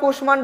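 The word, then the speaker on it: কুষ্মাণ্ড: লিখতে পারি অকাল কুষ্মান্ড অকাল কুষ্মান্ড এখন অকাল কুশমান্ড হচ্ছে সংস্কৃত শব্দ এটা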